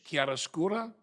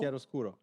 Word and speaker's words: chiaroscuro: And he's known, how do you say, chiaroscuro? Yeah. Chiaroscuro? Chiaroscuro.